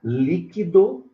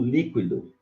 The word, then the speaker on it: líquido: As duas formas são corretas. Legal? Então, você pode pronunciar líquido ou líquido.